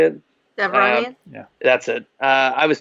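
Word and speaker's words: Devaronian: I was thinking, was it Devorian? Is that how you say it? Devronian?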